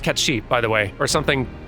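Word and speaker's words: Cait Sith: supposed to be pronounced cat sheep by the way or something similar again gaelic scottish gaelic the rule for scottish gaelic is just assume it's not pronounced how it looks and good luck beyond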